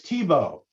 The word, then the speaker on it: Thibault: name is um thibault you can tell me if i'm saying your name wrong it's tebow all right so